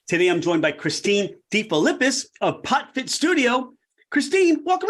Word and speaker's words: DeFilippis: Today, I'm joined by Christine DeFilippis of PotFit Studio.